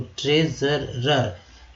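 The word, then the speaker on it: treasurer: कभी कभी एस को स पढ़ते हैं, कभी कभी एस को ज पढ़ते हैं। तो एस के बगल में यू है तो यू का उच्चारण जो है अ के रूप में किया गया है, तो एस ज प्लस ज होता है। तो ट्रेजरर, यानी कि र है इसके पहले, ई आर से र, और इसके पहले भी आर है, आर का मतलब र होता है, तो ये वो ट्रेजरर।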